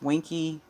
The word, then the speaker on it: Wonky: then she stated that wonky which is pronounced winky quan and pucky are